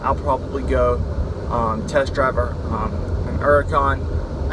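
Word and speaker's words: Huracán: probably go test driver Huracan I guess the H is silent I don't know some people use it some people don't but I'm gonna go test drive a car con I'd go test drive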